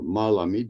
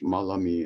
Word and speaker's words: Malami: By 1995, I met Melami or Malami, depending on your pronunciation. The pronunciation differs. Melami in Turkish, Malami in Arabic.